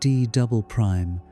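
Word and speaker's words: D″: This region, called the D layer, pronounced Doubleprime, has unusual properties.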